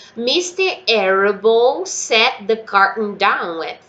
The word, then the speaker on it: Arable: Arable, sorry, a senhora Arabelle, que é assim que os meus alunos traduzem, né? Eu falo Arable, assim.